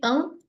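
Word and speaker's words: ㅇ: Ingat sekali lagi eng kalau ada di bagian depan. Kalau kalau ada di awal enggak dibaca ya. Eng. Oke, nih huruf eng itu silent kalau ada di depan vokal. Huruf eng dibaca baru dibaca kalau muncul setelah vokal.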